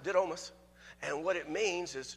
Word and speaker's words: Didymus: understand it just a little bit better it's pronounced did almost and what it means is twofold or twain